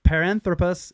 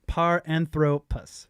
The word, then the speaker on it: Paranthropus: credit correct pronunciation of paranthropus is par anthropus paranthropus with the accent on the middle two syllables I'm not sure if